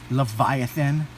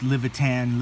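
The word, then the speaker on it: Livyatan: not fit the pronunciation the pronunciation is actually Leviathan like the biblical leviathan even though it is spelled Levitan or Leviathan it is not actually pronounced Levitan Levitan it is still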